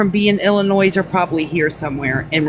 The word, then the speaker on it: Illinois: You all got to stop pronouncing the S in Illinois.